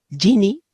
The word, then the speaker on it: Ginny: se escribía, o sea, se escribe Ginny como genio en inglés, genie.